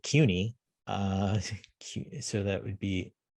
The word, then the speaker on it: CUNY: the q a uh it's pronounced i pronounce it cuny uh so that would